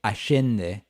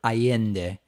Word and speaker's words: Allende: as we say in argentina we would say ashinde or ayende how did he pronounce that a lundy me get that hold